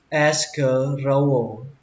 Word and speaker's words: escarole: Rau diếp mạ thì các bạn đọc là escarole. Escarole. Escarole. Lên giọng âm đầu tiên escarole.